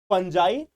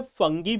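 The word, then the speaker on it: Fungi: Monera, protista, फंजाई, देखो इसको English में फंगी भी बोलते हैं, अगर आप देखोगे तो जनरली इसको इंग्लिश में जो प्रोनाउंसिएशन है वो फंगी है। बट एनसीईआरटी जो है वह इसको हिंदी में फंजाई लिखता है।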